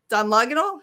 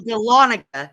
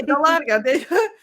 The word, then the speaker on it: Dahlonega: in the area in a town called Dunloganal? How do you say it? It's actually Dahlonega. Yeah. Okay, Dahlonega.